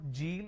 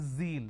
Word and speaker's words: zeal: It's not Jeel, it is zeal.